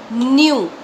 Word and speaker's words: knew: No, no will change into new, KNEW. Over here, K is silent.